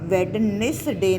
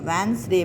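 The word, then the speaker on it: Wednesday: हम वेडनेसडे नहीं पढ़ते होते, इसको वेंसडे पढ़ते हैं। तो D हमारा क्या है, साइलेंट लेटर है।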